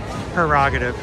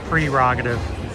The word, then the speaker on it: prerogative: This song ruined so many people thinking that it's pronounced prerogative. And the actual word is pronounced prerogative.